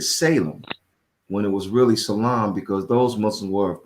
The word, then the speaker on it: Salem: more so today that those cities in states called Salem are really supposed to be pronounced Salam.